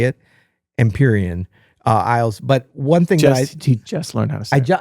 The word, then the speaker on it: Empyrean: confident because I know how to say it emperion uh Isles but one thing just learned how